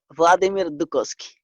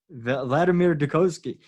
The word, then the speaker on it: Vladimir Dukoski: So, for the world, Vladimir Dukoski, am I pronouncing that end right? Vladimir Dukoski. Vladimir Dukoski.